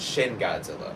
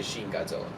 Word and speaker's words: Shin Godzilla: always say it wrong I think it's shin Godzilla there some people I think people s to say Sheen Godzilla great movie great movie you